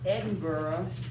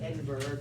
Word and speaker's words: Edinburgh: background he's born in edinburgh that's how they say it we might say edinburgh but they say edinburgh scotland his father was a